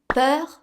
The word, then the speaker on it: peur: But in a nutshell, basically you just have to look, do I have a consonant sound to pronounce after my EU? In the same beat, of course. If there is a consonant to pronounce after, you pick the open E sound, but if not, you pick the closed E sound.